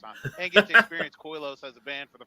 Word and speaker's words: Koilos: what does coos mean Coos is actually the word Kos so it's a Greek word that means hollow okay um it uh